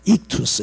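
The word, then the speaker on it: ΙΧΘΥΣ: 이금대 여기 안에 들어있는 글자가 익투스라고 읽어요. 익투스.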